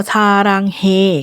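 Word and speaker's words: 사랑해: ใจ นิด นึง ซาระเงาเง คำ นี้ ออก เสียง ว่า ซารางเฮ ก็ ได้ ชาร ก็ ได้ แปล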